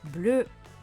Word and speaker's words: bleue: Bleu, le E ne se prononce pas.